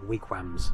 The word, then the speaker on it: Wigrams: Funny name. Like Wigrams. Can't say it right. But it is actually Wigrams. I'll put it across it. That is how you say it.